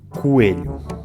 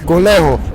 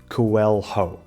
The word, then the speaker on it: coelho: O LH é um som difícil. Coelho. Coelho. Coelho. Very good. Mais uma palavra em que, para variar, todos os Os se leem U. Coelho. Aqui os falantes nativos de inglês têm tendência a separar a combinação LH, pronunciando cada letra individualmente.